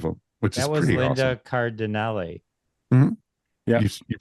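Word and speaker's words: Linda Cardellini: Linda Cardinelli. Yeah, you pronounced the name right.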